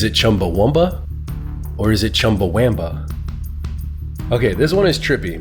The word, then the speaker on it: Chumbawamba: It turns out that the band is called Chumbawamba, with an A instead of a U.